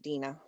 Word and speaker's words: Dana: pronouncing your name correctly yes it is pronounced dina all right thank you